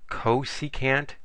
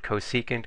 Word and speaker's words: cosecant: Oh, and by the way, people pronounce it cosecant, cosecant, secant, secant. Just, we're all trying to say the same thing here.